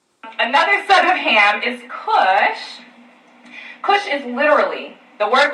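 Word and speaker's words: כוש: ethiopia wherever you read kush or ethiopia in the bible they are translating the same exact hebrew word which is pronounced kush i'm not sure why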